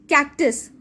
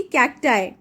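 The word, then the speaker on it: cacti: कैक्टस, कैक्टाई. इट्स नॉट कैक्टी, कैक्टाई.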